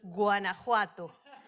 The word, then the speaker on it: Guanajuato: Sí, vamos a aclarar un poquito, es Guanajuato, pero yo sé que es complicada la pronunciación, no hay ningún problema. Muchas gracias. Me parece importante señalar, Guanajuato coincide en que los